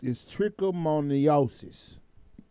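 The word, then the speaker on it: trichomoniasis: It's trichomoniosis.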